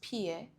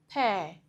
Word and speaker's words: pear: No, the word is not pronounced p rather it is rightly pronounced pair.